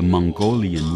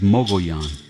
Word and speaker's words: Mogollon: but some Mikami people see it spelled and pronounced it the Mongolian Rim some mcgunn from that area pronounce it either muggy on or muggy ons that is wrong also it's true apache pronunciation is mobile yon it is one of the sacred mountain ranges